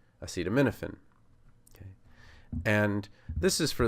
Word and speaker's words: acetaminophen: If you put the accent on the wrong place, then it just doesn't sound right.